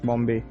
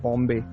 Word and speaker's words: Bombay: The Portuguese called the place Bom Bahia, meaning the good bay, where the English pronounced Bombay.